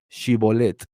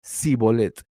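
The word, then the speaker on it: שיבולת: Si decía que no, le respondían, "Entonces di Shibolet." y decía sibolet porque no podía pronunciarlo correctamente.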